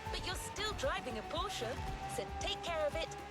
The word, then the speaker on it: Porsche: I did say Porsche when I first saw the word, but thankfully I have car enthusiast friends that are like, nah, it's Porsche. You pronounce it Porsche.